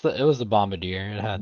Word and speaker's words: Bombardier: bombard c yeah yeah am I mispronouncing it is it Bombadier it's Bombadier yeah you know I've always